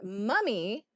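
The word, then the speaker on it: mami: Sydney is mammy is pronounced mummy. Basically Spanish slang for mamacita.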